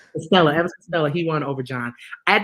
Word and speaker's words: Elvis Costello: Unfortunately, he won Elvis Castillo. Am I saying it right? Elvis Costello. Elvis Costello.